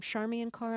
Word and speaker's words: Charmian Carr: uh female singer were here is her name charmi and car am i that's correct pronouncing that correctly that's correct okay so this